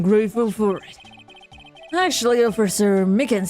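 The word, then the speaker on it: Meekins: Actually, Officer Micken said that the detention center told us. Ah, that poor little doggy. Poor guy, I kept getting his name wrong and calling him Mickey.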